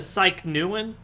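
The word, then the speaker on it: Psychneuein: I'm a total dumbass it's spelled psy CH n e ue I n I pronounce a psyche neuen so the psyche Nuland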